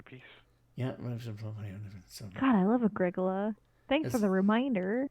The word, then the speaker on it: Agricola: Agricola, that's pronounced Agricola.